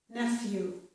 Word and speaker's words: nephew: Here, in elephant, F is made with the letters PH, and also in this word, nephew, F is made with PH, nephew, okay?